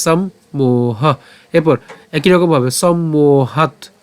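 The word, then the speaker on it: সম্মোহাৎ: মোহ ঠিক আছে সম্মোহ এরপর একই রকম ভাবে সম্মোহাত সম্মোহাত এরপর স্মৃতি স্মৃতি বিভ্রম স্মৃতি বিভ্রম অথবা আমরা এভাবে উচ্চারণ করতে পারি সম্মত এখানে খন্ডত আমরা দন্তসকে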